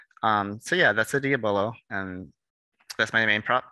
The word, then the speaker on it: diabolo: diva is you might have heard of it pronounced diablo i usually say diabolo or diabolo because diablo of course is spanish